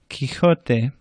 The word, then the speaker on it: Quijote: Q is always accompanied by a U, much like English, but it sounds like a K, K, instead of KW or qua. So instead of quick or quack, you would say quita, Quijote.